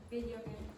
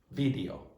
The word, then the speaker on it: video: Video. Yeah. Just be careful when you're pronouncing that if you're a Spanish speaker not to go like this. Don't close your lips. Go like video.